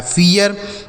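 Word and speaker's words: fear: तो अगर इ ए या फिर डबल ई के साथ आर लिखा रहेगा तो इ ए का उच्चारण होगा। जैसे यहां से हो गया फ और इ ए के साथ आर है तो इसका भी उच्चारण इ ए तो ये हो गया फिय आर से र लिखा है फियर।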